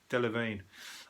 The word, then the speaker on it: Delevingne: Delevingne.